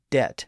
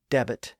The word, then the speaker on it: debt: Shakespeare's School master who insisted that every word be pronounced as it was spelled like debt as debit and doubt as dabit Mo had no such